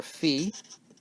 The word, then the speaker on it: phi: it goes on forever we have five or fee some people say fee in England or we say Phi in America ok and that's 1.618